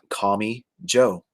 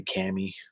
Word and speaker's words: Kami Joe: She told me it's Kami Joe. Kami Joe. That's the correct pronunciation. And I think she allows people to say Cami.